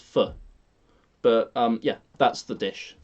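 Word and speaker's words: phở: It's of course pho, and it's not pronounced pho. It's pronounced pho.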